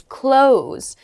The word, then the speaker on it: close: Next is close, meaning to be near, and the other pronunciation is close, meaning to shut, or it can also mean to end.